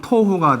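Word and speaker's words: תֹּהוּ: 공허를 발음하면 보후, 혼돈은 토후가 돼.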